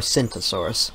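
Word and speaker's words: Tsintaosaurus: And then also Tacyntosaurus, or Syntosaurus, I believe. I believe the T is silent, but yeah, both these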